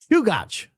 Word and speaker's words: Chugach: It's pronounced Chugach. Short A.